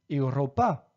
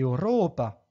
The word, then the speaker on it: Europa: fait très rares là-bas un accent sur la syab en partant de la fin comme dans Roma Europa je ne dis pas Roma ou Europa mais bien Roma et Europa et enfinbas comme dans